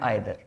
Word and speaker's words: either: एक वर्ड हमारे सामने है ईच और एक वर्ड हमारे सामने है आइदर। एक वर्ड हमारे सामने है भैया ईच और एक वर्ड हमारे सामने है आइदर। भी बोलते हैं इसे, ईदर भी बोलते हैं।